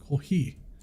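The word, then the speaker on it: コーヒー: Coffee used to have it This kanji that used to be pronounced as mocha but today they use katakana that sounds like kofi kohi.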